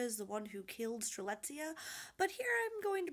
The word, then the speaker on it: Strelitzia: and fixed it so we were talking about strelitzia this is true let's say now to prove